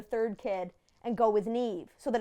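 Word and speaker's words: Niamh: people just don't think for those of you unfamiliar with the Gaelic language that name is spelled n i a m h because in Gaelic any consonant next to the letter H makes a v sound she had it the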